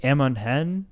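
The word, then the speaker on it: Amon Hen: But they're traveling down the river to, I think, Amonhen is how you pronounce it, where they're kind of resting and regrouping.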